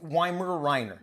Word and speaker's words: Weimaraner: Tell me how to say it correctly. Weimaraner. Weimaraner. Weimaraner. Okay, I got it.